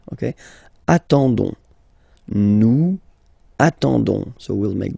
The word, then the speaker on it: attendons: nous, so O-N-S, okay, you don't pronounce the S, so you get only this on sound, okay, attendons, nous attendons, so we'll make the link between the two, la liaison, nous attendons, nous attendons.